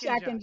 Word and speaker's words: Schachinger: It's How do I pronounce it? Schachinger. It's Schachinger.